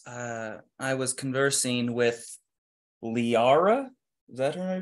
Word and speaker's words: Lysara: well my friends uh I was conversing with Liara is that her I pronounce the name yeah lisara visara lisara here and I told her of our plight